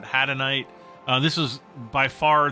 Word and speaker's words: hadanite: we we've got doline uh hadanite or henite however you want to pronounce it I pronounce it hadanite uh this is by